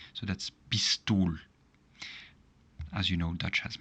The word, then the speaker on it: pistool: There are two consonants here, but still we pronounce it as a long I. So that's pistool.